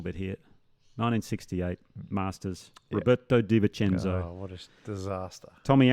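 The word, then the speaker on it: De Vicenzo: That Robert Da Vinci, how do you say Di Vincenzo. Di Vincenzo.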